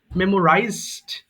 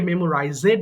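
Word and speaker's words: memorized: মেমোরাইজ মুখস্ত করা মেমোরাইজ মেমোরাইজড মেমোরাইজড এটা ভুল করে অনেকে মেমোরাইজেড বলে যাদের রিডিং এ প্রবলেম থাকে এটা কিন্তু মেমোরাইজড মুভ নড়ানো মুভ মুভ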